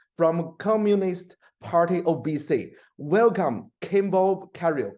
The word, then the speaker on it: Kimball Cariou: candidates Kimball Carroll from Communist Party obesity welcome Kimbo carrier it's my pronounce it correct pronunciation is good and thank